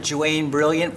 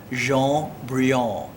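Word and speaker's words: Jaune Brillant: I called it Joanne Brilliant for a long time until someone who spoke fluent French pulled me aside and said it's pronounced Jaune Brilliant.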